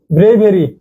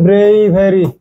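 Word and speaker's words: bravery: ব্রেভেরি, এর উচ্চারণ হবে ব্রেইভেরি, ঠিক আছে? ব্রেইভারি, ব্রেইভারি, ব্রাভেরি না, কিন্তু এটা ব্রাভেরি না, ব্রাভেরি না, কিন্তু এটা ক্রস, ব্রাভেরি না, এটা হলো ব্রেইভারি, ব্রেইভ, ঠিক আছে?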